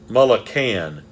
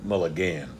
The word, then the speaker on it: Mulliken: contacts let me see you do Mulla can yeah so Jamie Mulliken so you've been saying it wrong you shouldn't be saying Mulligan okay I can anyway